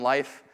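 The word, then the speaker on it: Leif: Crystal, and my son, Life. Life is pronounced or spelled L-E-I-F, and I say, this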